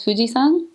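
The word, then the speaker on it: 富士山: But what I learned is that the san is another way to pronounce the kanji for mountain.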